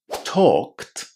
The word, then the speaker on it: talked: So cold talked worked. Cold talked worked. Pay attention that in talked the L is silent and there is a long O inside.